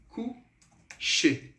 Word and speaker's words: coucher: Sim, mas os verbos no infinitivo que tem o sufixo ER no francês, a gente não pronuncia.